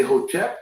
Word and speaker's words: Hotep: When we say Hotep, that's the Kemetic term, which means peace. And it's actually spelled without vowels, HTP in English characters, okay?